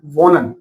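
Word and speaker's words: wohnen: एच के दोनों तरफ वोवल नहीं है, पहला रूल अप्लाई नहीं हो रहा। दूसरा रूल क्या था हमारा? एच एट the starting of, H starting में भी नहीं है, यहाँ पर ये क्या हो जाएगा? साइलेंट हो जाएगा। तो हम इसको क्या बोलेंगे? वोनन। इन दो कंडीशन को हमें ध्यान में रखना है।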